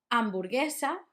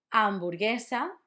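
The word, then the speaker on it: hamburguesa: Amborgesa. It's very similar to hamburger. It just doesn't have the h. Amborgesa.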